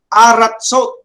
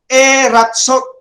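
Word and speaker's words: ארצות: But notice the reduction. Aratsot, not eratsot, because, okay, a guttural like aleph cannot have a shiwa under it.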